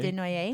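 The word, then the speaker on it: Dénoyez: Denoyer. Denoyer.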